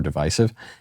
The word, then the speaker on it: divisive: divisive or divisive, and apparently it is a mispronunciation, first popularized by George H.W. Bush, then popularized again by Barack Obama. I believe it is the common pronunciation in Canada, America's hat, but in America and in the United Kingdom, in England, the preferred pronunciation is divisive.